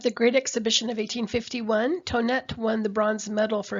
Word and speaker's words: Thonet: A lot of times people will see this name on the next slide and they'll pronounce it Thonet, but in fact it's Tonett.